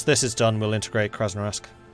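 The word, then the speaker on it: Krasnoyarsk: is done we'll integrate krasnarosk i really know how to pronounce that that's a difficult one my mouth is making shapes it shouldn't make hey sergey kraz no yursk thank you i summoned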